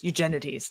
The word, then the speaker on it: Eugenides: the time Abigail says pronounce it like you're an ancient Greek ancient Greek Eugen no eugeni eugeni there that sounds you're right that sounds better they're right about the